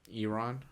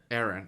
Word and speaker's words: Eron: They would still think it's like Eron. Yeah, maybe. Oh, yeah. I think they would definitely know it's Aaron. Aaron. I don't know why I said Eron. Because it's spelled E-R-O-N.